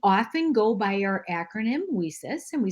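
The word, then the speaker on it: WiCyS: go by our acronym we sis and we spell that w-i-c-y-s and we pronounce it we sis like we sisters because that's exactly what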